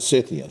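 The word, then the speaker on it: Cian: Hill Weaver's a Thursday cyan on Friday that's how you pronounce it cyan cyan now what what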